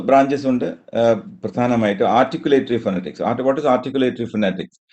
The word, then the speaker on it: phonetics: Articulatory ഫൊനറ്റിക്സ്. What is articulatory ഫൊനറ്റിക്സ്? ഈ ഫൊനറ്റിക്സ് എന്നുള്ള വാക്കിന്റെ തന്നെ ഞാൻ ഫൊനറ്റിക്സ് എന്ന് പറയുന്നെങ്കിൽ അതിന്റെ ഉച്ചാരണം നോക്കുകയാണെങ്കിൽ ഇറ്റ് ഇസ് ഫിനാറ്റിക്സ്. സ്ട്രെസ് ഇന്നിലാണ് ഫിനാറ്റിക്സ്.